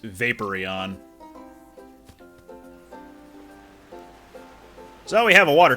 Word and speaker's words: Vaporeon: into Vaporeon although by all accounts it should be pronounced Vaporeon so we have a